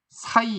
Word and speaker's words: 새: 이거 발음 실제로 어떻게 쓸까요? 사이 이렇게 발음했겠죠. 사이. 새가 아니라 사이.